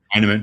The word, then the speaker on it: Heineman: So you lose a guy like Emil Heineman, I think how do you pronounce his name? Is that Heineman?